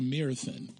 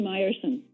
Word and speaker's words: Mierson: And on the phone today, we have Miss Mierson. Good morning. Good morning. It's actually Mierson. Mierson, okay.